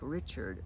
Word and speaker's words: Richard: The last name is spelled like Richard, but they pronounce it the French pronunciation because they were from France.